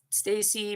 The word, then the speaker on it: Stassi: My name is Stacy, but I spell it Stassi.